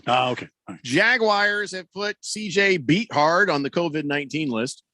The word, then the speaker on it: Beathard: jaguars have put cj beat hard on the kovid 19 list just thought you should know that it's pronounced beathard no not here on